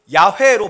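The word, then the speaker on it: Yahweh: 하나님께서 친히 자기의 이름을 여호와 혹은 야훼로 발음할 수 있죠.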